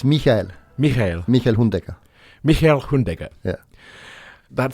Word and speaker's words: Michael Hundegger: And I always like to pronounce people's names properly. It's Michael Hundegger, is it? It's Michael. Michael Hundegger.